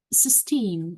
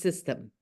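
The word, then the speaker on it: Systeme.io: webinar on, is it Système? Is it French? No, it's actually, I keep on saying system because I don't know why. I think because that E is there, but it is actually pronounced system.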